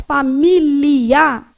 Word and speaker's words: familiar: Quando você faz familiar, olha o que você vai fazer. Familiar. Esse aqui vai no céu da sua boca, atrás do dente.